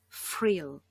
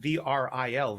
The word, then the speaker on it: Vril: thing and um in in german when there's a v in the first letter it's pronounced f anyway so um frill frill um that's how